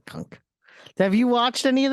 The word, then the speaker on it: Cunk: It's pronounced cunt, I believe. No, Cunk.